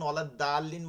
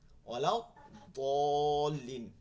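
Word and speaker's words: الضالين: এখন ওয়ালাদ দালিন বললে হবে? হবে না। ওয়ালাউ দলিন মোটা করে বলতে হবে।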